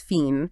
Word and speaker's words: fine: It would have been pronounced with a long E sound. So mine was mean, fine was fiend.